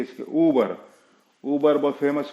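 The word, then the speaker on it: Uber: पे जाना है आपको, ऊबर। हाँ, ये बहुत से लोग उबेर उबेर करते हैं, मैंने सुना हूं, वो गलत प्रोनाउंसिएशन है, ऊबर।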